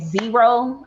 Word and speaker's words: Xero: So I'm in at Zero. That's spelled Xero.